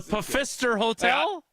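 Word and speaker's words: Pfister Hotel: I think the P the silent I think that silent P is good. The Pister Hotel.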